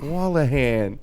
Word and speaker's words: Wolahan: I was like, oh, what is And you're the first person I've ever met that's pronounced it right. That's So good. job. Wolahan.